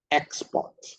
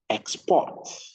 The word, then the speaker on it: export: verb for any homophones, the rule is when the stress is on the first syllable, that is a noun. When the stress is on the second syllable, that is a verb.